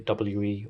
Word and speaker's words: WE: Electric G but as we all know the OEM manufacturer is actually a w/e or we however you prefer to pronounce it so this is a